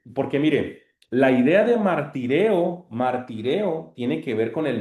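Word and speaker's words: μαρτυρέω: Hermanas, ¿a qué les suena esta expresión griega, martireo? Muchos lo pronuncian martureo, pero no, la upsilon se pronuncia como i, martireo.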